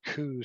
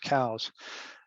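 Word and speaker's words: Coues: species here and elliott cows or coos some people will say cruz but it's pronounced cows he said so himself in one of his books where the uh the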